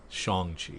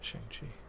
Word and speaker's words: Shang-Chi: And it's Shang-Chi, by the way, not Shang-Chi. I gotta correct myself. Not. I'm pronouncing it wrong for many, many, many decades.